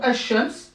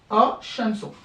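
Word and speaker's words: الشمس: Donc, par exemple, Al-Shams, à la base, c'est Al-Shams, Al-Shamsu.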